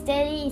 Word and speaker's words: Tely: My name is Tely. It's spelled T-E-L-Y.